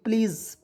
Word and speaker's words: please: अब देखते हैं PLEASE, प्लीज़, PLEASE, ये देखिए प्लीज़ की उसका उच्चारण हो जाएगा प्लीज़ के रूप में। देखिए एस का उच्चारण यहाँ पे ज के रूप में होगा, ठीक है।